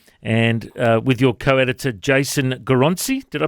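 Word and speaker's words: Goroncy: Age of Crisis, and with your co-editor, Jason Goronci. Did I pronounce that correctly? Goronci? Yep, Goronci, yep.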